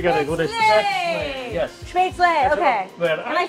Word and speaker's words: Spätzle: Spätzle, okay.